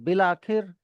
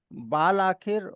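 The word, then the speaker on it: بالآخر: लिखा अलिफ के साथ जाता है। बे के बाद अलिफ है। लेकिन अलिफ साइलेंट है और अलिफ की जगह पे ज़ेर की साउंड है। तो वो बाल आखिर और बाल इरादा की जगह बिल आखिर बिल इरादा कि बिल इरादा इज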